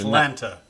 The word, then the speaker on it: Atlanta: This is how you'll always know if someone's from Atlanta or not.